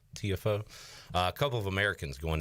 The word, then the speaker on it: Tiafoe: Tiafoe.